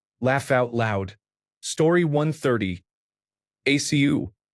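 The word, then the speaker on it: ačiū: ACU pronounced a chew like a sneeze means thank you in Lithuanian.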